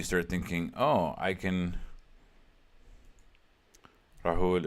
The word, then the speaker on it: Rahul: Rahul is correct pronunciation.